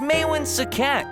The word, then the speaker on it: Maewyn Succat: I know, but his name is hard to pronounce. It’s Mae-eh something? It’s Maewyn Succat, kids.